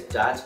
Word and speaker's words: Dat: out of state hello and my name is dot and it's spelled g-a-t and right here just